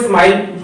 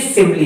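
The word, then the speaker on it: simile: अक्सर जो हम लोग गलतियां कर जाते हैं वो सिमली को स्माइल पढ़ देते हैं. स्माइल पढ़ देते हैं और स्माइल पढ़ने से क्या होता है, हम लोग उसकी स्पेलिंग में स्माइल वाली रख देते हैं. बट ध्यान रखना ये सिमली है.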